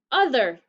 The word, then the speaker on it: other: t h e r the tricky part's the o it sounds like a short u it sounds like uh